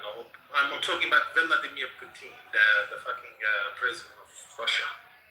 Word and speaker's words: Putin: Vladimir Putin, that's how you say it.